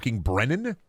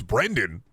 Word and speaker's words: Brendan: Also hated that teacher anyway because she used to call me Brennan. She wouldn't pronounce the D. Like there's a D. It's Brendan.